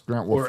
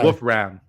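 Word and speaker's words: Wolfram: I should say Wolf Ram. Um bio says been there all year but it's kind of like who yeah his bio says name is pronounced wolf ram nickname is wolfy dot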